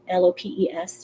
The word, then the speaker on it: Lopes: just google it um christina lopes l-o-p-e-s she pronounces it lopes on youtube look her